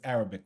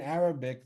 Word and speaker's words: Arab: is pronounced differently in Arabic. It's not Arab, it's Arab, right? It's this pharyngeal fricative that you really need to uh, kind of practice doing things with your throat in order to pronounce it.